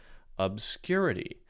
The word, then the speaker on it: obscurity: on the word is so the stress on the word is clearly the second syllable syllable one syllable two syllable three syllable four obscurity now we can listen